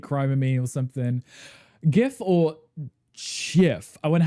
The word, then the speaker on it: GIF: It's like gif like good like begins with you know the same letter GIF like gify lube